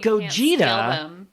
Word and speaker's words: Gogeta: alone and also but gogeta kind of sounds like goat and cheetah so not only is